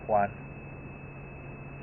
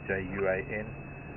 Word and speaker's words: Juan: parts of the world you probably call him Juan back a Spanish name j UA n and in spish you we call him Juan but somehow here in South Africa we pronounce things differently so yeah there was